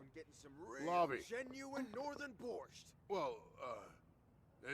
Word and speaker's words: borscht: just me or like I've always thought borsche you don't pronounce the T I'm pretty sure it's just borscht then again I I